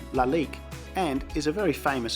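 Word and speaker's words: Lalique: definitely sweet so my wife tells me that loudly q is actually pronounced la lique and is a very famous french brand it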